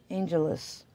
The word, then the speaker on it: Angeles: And the angels is spelled differently because she owns her name. It's A-N-G-E-L-E-S. Mystery Angels. Angelus. We'll just say it like that.